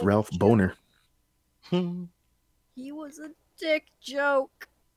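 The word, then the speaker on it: Bohner: that he corrects her and says, no, it's pronounced Bonner. But no, he giggles, and I'm like, man, the man's last name really is Boner.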